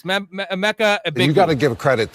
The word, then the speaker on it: Emeka: Emeka, how do you pronounce it again? Is it Ibuka? Emeka. It's Emeka.